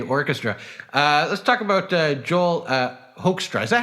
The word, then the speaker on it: Hoekstra: Let's talk about Joel Hoekstra. Is that how you pronounce his last name? Yeah. Hoekstra.